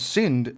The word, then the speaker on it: Syndt: for their apps and syn is pronounced that way without the T it's a Danish word and without the tea